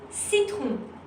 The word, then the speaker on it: citron: If C is before the letter E, I or Y, then you will pronounce it S.